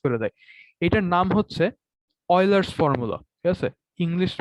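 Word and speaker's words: Euler: ইউলার না, এটাকে পরে অয়লার, ঠিক আছে? মানে উচ্চারণ এরকম, বাংলায় লিখলে আরো সহজ হয়। অয়েলার, অয়েলার, হ্যাঁ, অয়লার। এই তো অন্তস্থ অ দিয়ে অয়লার, অয়লার্স ফর্মুলা।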